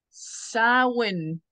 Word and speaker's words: Samhain: Okay, it's a Gaelic word pronounced as Samhain.